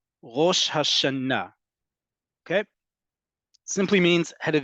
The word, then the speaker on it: Rosh Hashanah: about this before that the default emphasis in Hebrew is on the last syllable the last syllable so that's why it's Rosh Hashanah okay simply means head